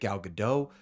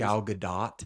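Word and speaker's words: Gadot: whether you hate Rachel zegler whether you hate galado do whether you're a conservative a liberal what pronounce it right please galad do thank you no matter what no matter how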